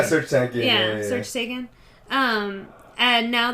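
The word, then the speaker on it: Serj Tankian: With Sergeant Talkin. I'm not sure that's how you say his name, but I think it's like Serge Tankian or something. Yeah, Serge Tankian.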